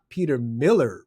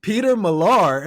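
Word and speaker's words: Peter Millar: me and they said he Steve it's not Peter Miller bro although I love the way that you're pronouncing it it's Peter malar and I said I just thought that was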